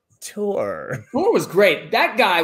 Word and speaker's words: Thor: Pronounced Tor.